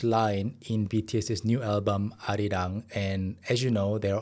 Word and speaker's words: Arirang: So I've seen that a lot of people actually pronounce it in the Korean pronunciation, Arirang, like that, which is amazing. And if you pronounce it like Arirang, that's fine too.